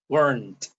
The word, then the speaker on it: weren't: weren't weren't so wasn't weren't wasn't weren't practice that just notice that this wasn't has two syllables and weren't has one syllable okay weren't weren't nowhere